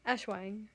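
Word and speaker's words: Aswang: Ashawag? The Ashwang? Ashwang.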